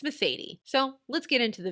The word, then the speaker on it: Mercedes: And if you're wondering, how is it that we pronounce this name? It's Mercedes.